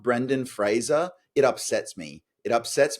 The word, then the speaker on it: Fraser: So Ben has something of a long-running history of refusing to say Brendan Fraser and instead saying Brendan Frazier, which is not his name. And even though I'm not Brendan Fraser, it upsets me.